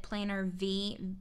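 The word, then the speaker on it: Planner Vie: And then this cute little insert I got from, I believe you pronounce it Planner V.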